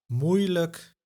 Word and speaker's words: moeilijk: But the exception, if the syllable with I plus J is used in the unemphasized suffix like or luk, you will hear a so-called schwa sound. Moeilijk, duidelijk, and one of